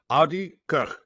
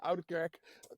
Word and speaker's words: Oudekerk: On today's episode, we're talking to Oudekerk. I wanted to pronounce it the Dutch proper way.